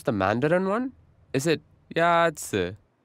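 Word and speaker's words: 鸭子: Is it Yazi? Yazi is pronounced with a first tone. In Mandarin, there are four tones, which are essential to distinguish the meaning of words. The first tone is a high-level tone.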